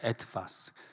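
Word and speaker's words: etwas: W를 W가 V 발음이 나니까 애트파스.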